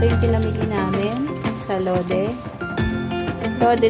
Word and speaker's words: Lotte: Lode daw ang pronunciation ko, hindi Lote.